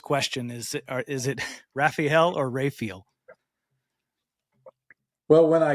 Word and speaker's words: Raphael: just started saying it's Raphael that's the way you know that's the way it's spelled and that's the way it should be pronounced so that's you know